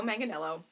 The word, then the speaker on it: Manganiello: say his last name it does not look like that spelled out but I google it it's joe manganiello and he was actually